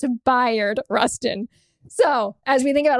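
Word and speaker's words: Bayard Rustin: named after him and for years I have been saying Bay Rustin turns out I've been saying it wrong it's bu Rustin so as we think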